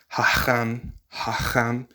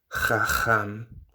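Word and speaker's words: חכם: So hacham, many people will now pronounce that as chacham, with the two letters, the ch, identically back to back. The first letter there is a het, but because most people can't say or don't say hacham, they'll say chacham.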